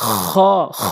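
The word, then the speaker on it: خاء: নুন ফা, নুন ফা, গইন খ, গইন খ, খ এভাবে উচ্চারণ করবেন হলকের শেষ থেকে।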